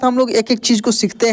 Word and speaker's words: कंस: ये ऊपर सब में न के रूप में उच्चारण हुआ है। किसमें? न के रूप में उच्चारण हुआ है। जैसे लंका, लंका, कंस, कंस, हंस, हंस बोलकर भी देखिए न का उच्चारण होगा, हंस।